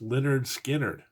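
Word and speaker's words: Lynyrd Skynyrd: nominee Sabbath Bloody Sabbath our third album It's pronounced Leonard skinnard uh the boys from Tallahassee Leonard skinnard with their debut album uh again I don't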